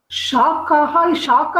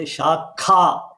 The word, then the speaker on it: शाखा: Do you know the difference between Shaka and Shakha? Shaka is branch. Not Shaka, the Shakha. Ha prana. Yeah. That is branch.